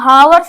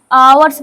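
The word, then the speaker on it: hours: कुछ घंटों के लिए देखिए इसको वर्स नहीं पढ़ते आवर्स पढ़ते हैं य एच साइलेंट है एज क्योंकि इट स्ट्रगल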